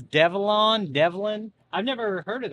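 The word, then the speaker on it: Develon: used to be called ducon um it's actually pronounced Dellon they just recently changed their name this year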